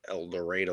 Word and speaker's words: El Dorado: El Dorado.